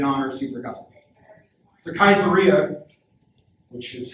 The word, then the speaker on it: Caesarea: So Caesarea, which is how you should pronounce it. This is not Caesar. That's not addressing. The C always makes a hard K noise in Latin, unless it's followed with a couple of different vowels.